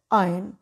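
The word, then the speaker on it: iron: बोलते हैं टाइम लोहा कॉमनली आयरन प्रोनाउंस किया जाता है पर आर तो इसमें साइलेंट है करेक्ट प्रनंसीएशन आयन शब्द दुनिया इसमें भी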